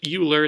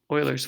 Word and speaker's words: Euler: now there's this formula okay it looks like Euler it's actually pronounced Euler okay Oilers formula okay and this is for polyhedron it